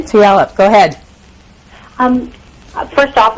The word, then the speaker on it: Tulalip: West Coast now Oregon is it Tula is that how you pronounce that I'm from Puyallup Washington Tulalip go ahead um first